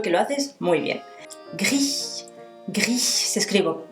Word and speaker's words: gris: Gris, gris. Se escribe como en castellano, gris, gris, pero no se dice la S al final.